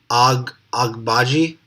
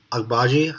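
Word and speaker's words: Agbaji: pronounce his last name ag bhaji akbaji i think that's that's how you how you pronounce it another defensive two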